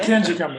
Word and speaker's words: Pikangikum: Pikangikum is the right pronunciation.